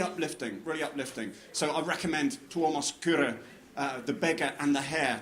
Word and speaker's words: Kyrö: I've just finished a novel called The Beggar and the Hare by a Finnish novelist called Tuomas Kyrö, which is spelled Kyro, Kyrö, and absolutely wonderful story about, it's a very